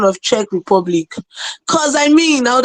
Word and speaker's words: Czech Republic: secondly thank you for giving me the correct pronunciation of Czech Republic cuz I mean I would have embarrassed my